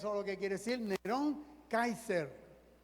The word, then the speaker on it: Kaiser: Y cuando eso es lo que quiere decir, Nerón Kaiser. Kaiser, como se pronuncia también en alemán.